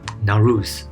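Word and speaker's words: Nowruz: year period what do you call that anything now rules so it's spelled n o w r u z or r u s depending yeah you have different spellings sorry but now rules yeah and what happened during the rules uh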